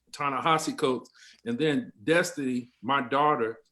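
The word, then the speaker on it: Ta-Nehisi Coates: uh the individual uh he gave it to us phonetically also tana hossie coats tana hosse coates and then destiny my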